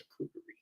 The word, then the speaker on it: charcuterie: But someone said in the comment on Instagram, they said I never know how to pronounce that. I'm just like, it's charcuterie.